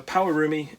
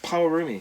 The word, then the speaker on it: Pawarumi: Power, as in, I think that's how you say it. P-A-W. Oh. A-U-R-M-I. Like roommate. Like Pawarumi. No, yeah. Pawarumi.